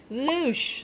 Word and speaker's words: louche: the day is called louche almost sounds like doosh doosh so louche is spelled